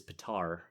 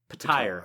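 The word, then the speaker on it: Petyr: uses pronunciations like um Peter Bish is patar payre payre Bish oh payre yes that actually makes a bit more sense than patar Paya anyway you want to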